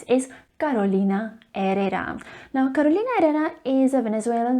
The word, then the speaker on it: Carolina Herrera: the letter h because the letter h in spanish is silent and should not be pronounced ever remember it is carolina herrera not carolina herrera girl feminine fragrance by